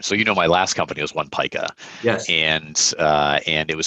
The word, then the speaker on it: One Pica: Everyone would spell it wrong, or say it wrong. It was Una Pica. I'm like, we're not Pikachu. Like, come on. Like, that's just not the way it is.